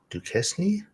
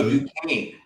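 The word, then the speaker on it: Duquesne: Uh, Dukesny. Oh, Dukane.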